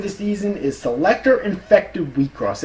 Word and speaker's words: Wixoss: Anyways, and number 1, my favorite anime of the season is Selector Infected Wheatcross. It's spelled like Wixos, like all capitals Wixoss, but it's pronounced Wheatcross.